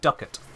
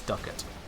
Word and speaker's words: ducat: them to the instruction point Happy Hunting it's Duckett I pronounce it various ways and videos before now